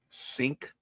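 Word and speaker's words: Cink: C I N K C I N K sink minus 10 and 62.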